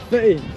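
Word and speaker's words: Footdee: Oh, I know people pronounce it differently here. Is it Fetty? Fetty. Is that what it is? It's proper name is foodie but I've been fetty right fetty that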